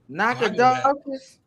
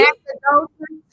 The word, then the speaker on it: Nacogdoches: Nacogdoches. Say it again, D. Nacogdoches. All right, D, you got it. You have redeemed yourself on tonight. You don't know you live off of Fuqua, but you know Nacogdoches.